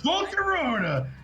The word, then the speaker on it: Volcarona: It's Volcarona. It rhymes.